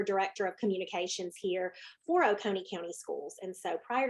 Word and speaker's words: Oconee: And she is out of Oconee County Schools out of Georgia. And Oconee. so, what's that? Oconee.